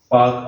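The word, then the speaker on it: Palk: और यहाँ पे पाक रेखा, मतलब जो यहाँ एक पाक रेखा, पाक आर साइलेंट है, ये श्रीलंका और भारत को अलग करती है।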